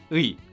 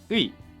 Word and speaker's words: 의: Now, the official standard pronunciation of 의, it's basically a combination of ư and 이. Say ư and then 이, but almost at the same time. 의, 의.